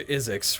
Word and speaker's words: Isix: Dr. Isix rhymes with physics.